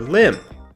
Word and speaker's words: Lim: a bit grim instep's peter lim rhymes with grim that was unintentional but